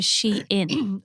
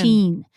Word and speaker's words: Sian: my name is more of a Shein, like Shein, as opposed to Sheen.